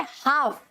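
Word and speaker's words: half: हाफ, ठीक है। तो यहाँ का एल जो है वो भी साइलेंट है, राइट।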